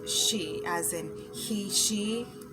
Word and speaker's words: Xi: on joe biden and what i used to pronounce as being xi jinping because it's his first name is exci and i thought that was the cooler way to say it but it's the proper way is she as in he she